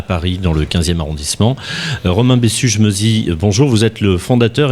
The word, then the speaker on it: Romain Bessuges-Meusy: au futur à Paris dans le 15e arrondissement romain bessu meit bonjour vous êtes le fondateur et le président de acceptio bravo pour la prononciation effectivement c'est moi je suis Robain et